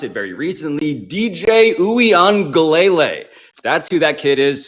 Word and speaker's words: Uiagalelei: I learned how to pronounce it very recently. DJ Uiagalelei.